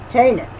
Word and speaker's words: Taanach: Taanach. Really? Wow, okay. Just like if it was spelled with just one A.